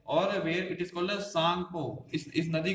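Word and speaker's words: Tsangpo: ठीक है, भारत के अलावा ऊपर चाइना वाले सेक्शन में से कहते हैं सांगपो, टी नहीं पढ़ेंगे, इसे सांग पढ़ेंगे, टी साइलेंट हो जाएगा, तो सांग हो।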